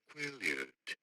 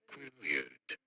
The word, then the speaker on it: Quileute: Quileute. Quileute.